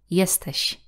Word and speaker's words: jesteś: Sh. Like in the word jesteś. Jesteś. It is close to the sound as in the English word sheep, but the Polish sh slightly softer.